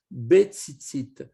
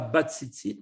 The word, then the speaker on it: betzitzit: Veyesh lomar, il faut faire attention de bien dire betzitzit. D'accord? Ce n'est pas batzitzit, mais betzitzit, en mettant donc